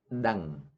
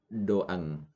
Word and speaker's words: ដឹង: That in Khmer you say dang. Dang. You see that phonetic I write O-E. Some students they pronounce doang. Doang. So not correct. Only one sound. So it is dang.